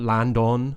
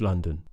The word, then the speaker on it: London: more for thew sound so London not London on not Landon anything like that it's London next I'd like to